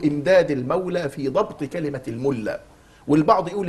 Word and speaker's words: الملا: المولى في ضبط كلمه الملا والبعض يقول الملا بضم الميم والبعض يقول الملا وكان الامام شهاب الدين الالوسي يضبطها بفتح الميم ويقول فاحفظ وبالفتح تلفظ الملا ويقول انها نحتت من